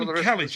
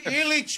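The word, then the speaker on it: Ilic: Kalic, apparently. No, Illich, my friend.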